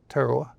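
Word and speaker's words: Tarawa: In November of 1943, the Battle of Terawa. Did I pronounce that correctly? Terowa.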